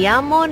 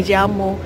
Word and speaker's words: llamo: Dibacanya tuh double L itu kayak Y. Tapi kalau di Amerika Latin dibacanya tuh kayak J. Jadi Tapi kalau kalau Spanyol, bahasa Spanyol yang Spanyol di negara Spanyol biasanya me llamo.